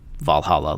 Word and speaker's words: VA-11 Hall-A: The game's title is stylized as VA-11 Hall-A, although it's pronounced Valhalla like the Viking heaven.